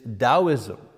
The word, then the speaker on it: Taoism: first of which is Taoism you know you pronounce the T like a d taoism that comes from